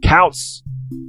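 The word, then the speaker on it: Koutz: But if you want to search the author yourself, it's important to note that his last name is spelled K-O-U-T-Z. I said Kautz, K-O-U-T-Z.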